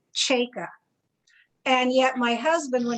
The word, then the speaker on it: Cajka: interesting because i have i have always said my name chaka and yet my husband